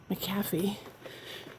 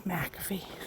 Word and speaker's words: McAfee: Whenever I read it, I said macaffy for years. So, I talked to the locals, they said it's McAfee. So, I keep saying in my head, McAfee, McAfee, McAfee, I got to get it right. So for anyone else also wondering, that's how the locals say it.